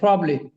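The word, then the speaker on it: probably: এই দেখো এইযে এই প্রবলি ঠিক আছে প্রবলি কি হবে এটা প্রবলি কি হবে প্রবাবলি প্রবাবলি বললে ভুল প্রবলি প্রবলিকে এবার আসেন এটা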